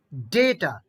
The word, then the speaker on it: data: buffet, buffet, buffet, Data, data, data. data, data, data, Second A will be pronounced in a long way.